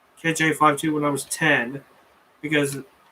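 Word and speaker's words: KJ-52: and so i got it's pronounced 5-2 on my birthday 10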